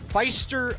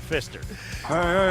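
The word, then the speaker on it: Pfister: I hardly know her why not Feist whoa because that's not how it's pronounced is that how the family goes by it it's the Fister e f i yeah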